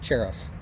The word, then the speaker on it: Cerv: And I will say that it is accepted to say his last name is Cerv, but it actually is pronounced Cherif.